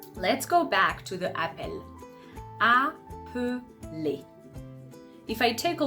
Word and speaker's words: appel: Appel is ending with L. Okay? So here, the E that is in appel is going to be open to welcome the consonant sound.